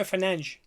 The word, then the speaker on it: Fernandes: changed because for example when Bruno Fernandes says his name he says Bruno Fernange. Mhm. So if I say Fernandes Yeah.